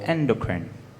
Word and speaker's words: endocrine: there an alternative pronunciation yes we have endocrine endocrine or endocrine endocrine please can i